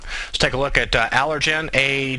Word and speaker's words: Allergan: take a look at allergen a g n or allergan i believe that's not a soft g uh kind of a